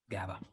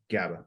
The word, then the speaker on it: GABA: Margot asked, is it GABA or phenibut? I'm not sure if I pronounced that word correctly. GABA. GABA.